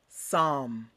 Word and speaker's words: psalm: affecting the lungs just like pneumonia next word psalm repeat what does it mean a psalm is